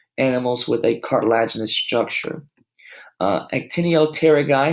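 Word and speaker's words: Actinopterygii: with a cartilaginous structure Antonia Terra guy so the P is silent antonio terry guy a red fin fish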